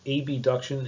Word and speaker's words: abduction: at what's known as abduction and adduction. This is borrowed from Latin, where AB means away and AD means toward. So there's no confusion. I'll make sure that I pronounce them as abduction, adduction.